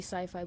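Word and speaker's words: Syfy: yesterday I was watching the siffy channel yes I know it's supposed to be sci-fi but it's spelled so stupidly like it's not even funny so it's sippy to me and there was a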